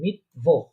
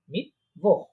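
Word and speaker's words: Mittwoch: Wednesday যেটা আমরা বলি বুধবার, সেটাকে তারা বলে মিটভোহ। মিটভোহ, মিটভোহ বলেন। ইয়া, মিটভোহ। হ্যাঁ, হ্যাঁ, হ্যাঁ, মিটভোহ, মিটভোহ, ইয়া, খ উচ্চারণ হবে মিটভোহ।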